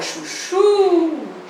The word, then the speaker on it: chuchu: A palavra chuchu pode chamar também. Tem gente que confunde, não é a penúltima, é a última também.